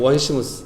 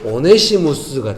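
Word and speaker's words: Onesimus: 예, 영어 발음을 제가 사전을 찾아봤더니 원시무스 이렇게 발음하는 것 같아요. 그런데 이거를 그대로 한국 자음으로 이렇게 한국 발음으로 음가로 하면은 오네시무스가 돼요. 재밌다고 생각했어요.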